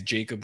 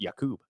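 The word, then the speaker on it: Jakob: submitting that, but uh yeah, this guy is Jacob with a K. I don't know if you want me to. Let me scroll. Actually pronounced Yakub.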